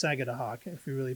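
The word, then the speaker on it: Sagadahoc: three times sagad Hawk I used to say sagw but it's sagad Hawk if you really pronounce it PR properly that's kind of coming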